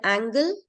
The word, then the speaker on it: angle: angle and angel angel yes G in the word Angel there is soft soft G rule but in the word angle it's not there okay so whenever you have l e whenever you have l e g will be with n okay a okay angle but when you have e l then e goes with G to make it soft and it becomes Angel okay now in many words